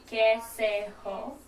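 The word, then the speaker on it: कैसे हो: So the way you say how are you is kaise ho. Kaise ho. Kaise ho. So fast, it's kaise ho. Yeah. Okay, Kaise ho. And so I'd say kaise ho, and then you'd answer back.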